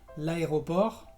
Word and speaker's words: aéroport: consonante, vas a encontrar muchas palabras que se terminan en RT y la T no se pronuncia. Por ejemplo, l'aéroport, que es el aeropuerto, o le dessert, que es el postre.